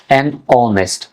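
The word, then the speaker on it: honest: শব্দের শুরুতে এইচ থাকলে যদি তার উচ্চারণ শোনা না যায় তাহলে এন বসবে আর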